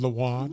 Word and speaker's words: Lathan: It's pronounced Lathan.